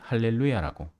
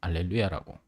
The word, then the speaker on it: 알렐루야: 언어적 배경을 근거로 읽느냐 미국식으로 읽으면 할렐루야가 될 것이고 그래서 개신교에서는 흔히 할렐루야라고 미국 미국의 영향을 많이 받았죠 그래서 그런 발음 체계를 갖고 오고 우리는 알렐루야라고 있는 겁니다 그리고 뭐 언어라는 건